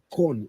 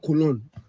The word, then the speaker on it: Köln: So we are going back to corn. It's not Cologne. Those of you keep pronouncing Cologne. It's not Cologne. It's corn. You know, we don't pronounce it L.